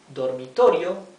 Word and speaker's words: dormitorio: false friend with Spanish the word dororo dororo four syllables dormitorio means bedroom right so